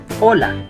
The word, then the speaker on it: hola: The most common greeting or saludo en español is hola. Hola means hello in Spanish. Try to pronounce hola, not hola.